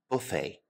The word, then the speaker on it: buffet: Our next type of restaurant is probably my favorite, the buffet. Buffet is a French word in origin, so we do not pronounce the T. Buffet.